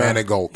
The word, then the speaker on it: Manigault: Miss Omarosa, I don't even know how to pronounce her Manigault, name. bro. Manigault.